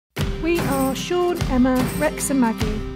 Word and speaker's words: Ae: Morning everyone, we are up bright and breezy in the sunshine and we are heading to A forest today. That's how it's pronounced. I think it's spelled A-E forest.